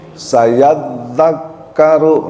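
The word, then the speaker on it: سيذكر: Nah, ini ada double tasjid. Di dalam huruf dza dnya ada tasjid. Di dalam huruf kafnya juga ada tasjid. Jadi tasjid dua-duanya mesti dibaca. Sayadzakaru ya bukan sayadzakaru nanti tasjid di dalam kafnya jangan hilang sayadzakkaru nah sayadzakaru dua tasjid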